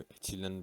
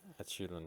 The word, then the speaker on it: echelon: इसको एचिलन भी बोलते हैं, लेकिन इसकी सही प्रोनाउंसिएशन एशेलन फॉर्म है।